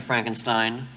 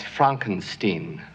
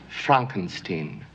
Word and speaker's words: Frankenstein: have one question dr frankenstein that's frankenstein i beg your pardon my name it's pronounced frankenstein but aren't you the